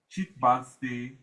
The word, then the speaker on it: Chhit Bansi: Chit Mancy fishing? How do you say it? Chit Mancy fishes.